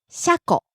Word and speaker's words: 車庫: 車庫、 Garage, train depot, car shed. 車庫、車庫、 Starts high, falls.